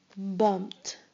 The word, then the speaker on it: bumped: Bumped. Bumped. You only hear the t sound at the end.